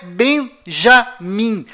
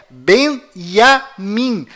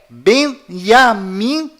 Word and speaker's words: Benyamin: é iu além disto não é Benjamim a pronúncia correta é benyamin pois lembre-se até hoje não existe em hebraico nenhuma letra com som de J confira é benyamin se você